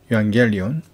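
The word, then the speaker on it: εὐαγγέλιον: En ho kai meis accusantes ton logon tes 레세이아스 토 유앙겔리온 이응이 감마면 기억이면 앞에 걸려 이응으로 해준다 했습니다. 그래서 유앙겔리온 테스 소테리아스 헤몬 엔호 카이 비투산테스 에스프라기스 세테 에스 이건 F 발음이라고 그랬죠.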